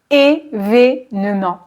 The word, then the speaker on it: événement: très très événement événement ici ce sont deux e accent aigu événement événement l'accent grave se place